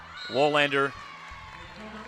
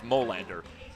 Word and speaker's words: Molander: Wollander fires that one long. And it's 8-7. I believe I mispronounced that. It was Molander.